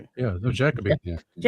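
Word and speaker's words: Jacobi: No, Jackabe.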